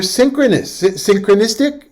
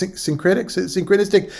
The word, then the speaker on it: syncretistic: We'll talk more about that later, Helios, that was found in churches that were synchronistic. Is that the right way to say it? It's syncretistic.